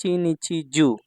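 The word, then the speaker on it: 一日中: আর এখানে হচ্ছে নাকারক কাঞ্জিতে হচ্ছে জু ইচ ইচি নিচছি জু ইচি নিচছি জু অর্থ হচ্ছে সারাদিন এই শব্দটা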